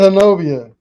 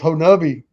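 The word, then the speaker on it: Honobia: So you said Hanobia. It's Honobi.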